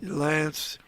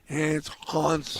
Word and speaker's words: Hans: uh it was so funny because he'd always mispronounced your name on purpose. Yep. Love to call me Lance. Lance. Hans.